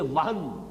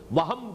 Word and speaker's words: وہن: note کر لیجئے، وہن، ویسے یہ کہ تلفظ میں وہم جو ہے میم کے ساتھ، یہ چونکہ ہمارے ہاں عام طور پر لفظ استعمال ہوتا ہے، آپ کو مغالطہ نہ ہو، یہ نون کے ساتھ ہے وہن، اور وہن ہی سے